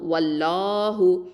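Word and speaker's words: وَاللَّهُ: வல்லாஹு வாவ் ஃபத்ஹா லாம் ஷத்தா வல் லாம் ஃபத்ஹா ல வல்லாஹு ஹ தொம்மா ஹு வல்லாஹு. இந்த இடத்துல லாம் லஃப்துல் ஜலாலா. இதை எப்படி ஓதணும்? நல்லா வந்து ஹெவியாக உச்சரிக்கணும். வாயை ஓப்பன் பண்ணி ஓதுங்க. வல்லாஹு.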